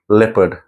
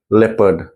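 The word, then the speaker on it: leopard: है स्वा है और स्वा का साउंड होता है अ तो लेपर्ड नॉट लेपार्ड लेपर्ड American में आर बोलते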